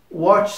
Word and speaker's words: watch: com esse ch então tem esse som de T como se fôssemos pronunciar a palavra tchau em português e nós falaríamos watch se nós fôssemos adicionar